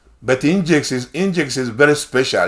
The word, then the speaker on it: Nginx: Nginx is like, sometimes they pronounce it Nginx, like your engine of your car, Nginx.